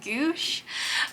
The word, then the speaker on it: gouache: I think it's pronounced gouache is the type of paint, but that's been